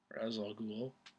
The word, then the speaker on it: Ra's al Ghul: Actually, Gary Oldman was thought of for Ra's al Ghul. I'm going to call him that because that's how they pronounce it in the movie.